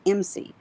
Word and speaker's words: IMSI: And it's an acronym and they pronounce it MC.